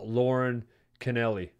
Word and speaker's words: Lauren Canelli: Benefit fundraiser for Lauren Canelli.